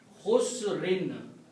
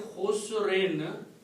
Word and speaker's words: khusr: So word becomes lafi khusrin, and when you stop you pronounce khusr. Whenever you have a tanween at the last letter, like two fathahs, two dhammas or two kasras, if you stop you don't pronounce the sound of noon, you pronounce khusr. Okay? But if you want to continue, you can pronounce khusrin.